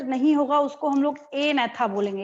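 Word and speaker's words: Agnatha: होगा उसको हम लोग ए नेथा बोलेंगे। यहाँ पे क्या होता है, जी साइलेंट होता है। सेकंड वाले में भी जी साइलेंट है और फर्स्ट वाले में भी जी साइलेंट है। ए नेथा जी नहीं बोल रहे हैं हम यहाँ पे।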